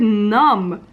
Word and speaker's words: numb: Even in the word numb, I hear the B.